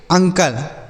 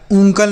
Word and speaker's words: uncle: UNCLE, इसे हम अंकल पढ़ेंगे। क्या पढ़ेंगे? अंकल। उंकल नहीं पढ़ेंगे, अंकल।